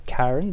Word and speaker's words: Carenne: it's cool uh okay her name is karen but she's a breton so you spell it oh in a breton fashion uh kind of french sounding i haven't thought of